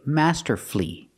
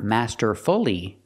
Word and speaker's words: masterfully: on the first syllable when you have two syllables before f u l l y and the stress is on the first syllable then the U is silent that's when the U